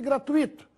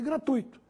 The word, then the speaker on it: gratuito: Nada de fortuito e gratuito. A forma correta é fortuito e gratuito, sem acento.